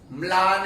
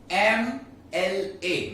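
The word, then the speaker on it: MLA: ये एमएलए को हम प्रोनाउंस मला नहीं करेंगे, मला नहीं, ठीक है? एम एल ए मतलब एम, ए म, क्या हुआ प्रोनाउंस? ए म, ए मतलब वॉवेल साउंड है, तो यहां पे क्या आएगा? एन एमएलए।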